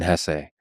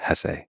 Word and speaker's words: Hesse: It was written by Hermann Hesse. And by the way, please allow me this pronunciation of his last name. I've heard some people say Hess, but my whole life I've always said Hesse.